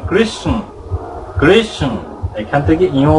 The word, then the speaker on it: কৃষ্ণ: যদি চৈতন্যের জ্ঞানে চলতে চান, সত্য সনাতনের জ্ঞানে চলতে চান, তাহলে আপনাকে সঠিক উচ্চারণ কৃষ্ণ কৃষ্ণ, এখান থেকে ইয় উচ্চারণটা এই বিন্দু পর্যন্ত